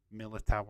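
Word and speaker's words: Militão: know how you put the correct pronunciation of that name is Miller Tower I'm gonna go for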